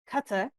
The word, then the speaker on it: Qatar: So here we are again about to cross an ocean into Qatar Qatar, which which is the correct pronunciation.